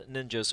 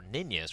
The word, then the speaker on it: Ninjas: But that being said, the ninjas will or ninjas rather as you would pronounce it in Sweden will go for will